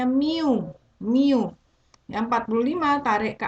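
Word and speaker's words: μ: Nah, inilah derajat keanggotaannya atau dilambangkan dengan lambang nih bacanya mu.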